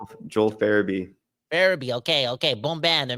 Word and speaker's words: Farabee: Joel Farabee.